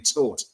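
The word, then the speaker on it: Tóth: It's Ferin Cabos, and I've also learned that the pronunciation of his surname is actually Toth, as in Bournemouth and Toth Liverpool a footballing lesson. So, it's Alex Toth.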